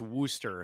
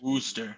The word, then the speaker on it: Worcester: that one is in worcester massachusetts so we're gonna go the opposite direction so i'm gonna apparently it's pronounced wooster if you're from the northeast wooster worcestershire worst destroyer yeah